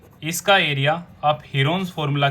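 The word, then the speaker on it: Heron: और इसके एरिया को हम प्रूव भी कर चुके हैं हीरोन्स फॉर्मूला की हेल्प से। हीरोन्स की एक्चुअल प्रोनाउंसिएशन है हिरन्स फॉर्मूला।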